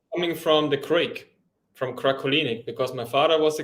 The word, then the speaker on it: Krakolinig: In German, you would say Krakolinig. Krakolinig. Krakolinig, yeah. Krakolinig. Okay. I think I'm going to stick with, if you don't mind. It's coming from the Crake, from Krakolinig, because my father was